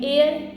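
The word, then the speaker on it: heir: और एयर यहां पे ये जो एज है ये साइलेंट है इसकी आवाज नहीं आएगी तो ये एयर एयर इसलिए ये एयर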